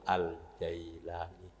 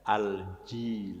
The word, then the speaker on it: al-Jailani: ini Hai Yalil Aceh Abdul Qadir al-jailani atau ada yg membacanya al-jilani Ra Hai yang mendapatkan